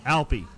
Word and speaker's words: Alpie: He says it's not Alfie. What is it? How do you pronounce it? Alpie. Is that right? Alpie. Like the Swiss Alps.